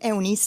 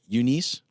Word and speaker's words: Eunice: I'm afraid it's Eunice is how you're kind of the American pronunciation.